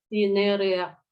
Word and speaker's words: Cinerea: Kemudian Cinere, bacanya Cinerea.